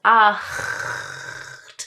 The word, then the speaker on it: acht: There is both a hard and a soft version of 'ch' the hard one as in the number 'acht' (8). Right? So that's 'acht' right, that quintessential guttural German sound 'acht'.